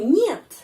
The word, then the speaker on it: нет: Tidak itu нет, нет. Kata нет, kalau kita no, ya no, it is not a palace. No atau нет, pengucapannya seperti dalam kata monyet ya, нет, нет, monyet.